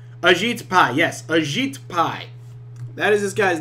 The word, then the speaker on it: Ajit Pai: Ajit Pai. Is that your freaking name? Is that your fucking name? Ajit Pai. Yes, Ajit Pai.